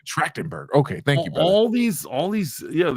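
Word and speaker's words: Trachtenberg: know rest in peace Michelle tractenberg yeah that's how you pronounce it tractenberg okay thank you brother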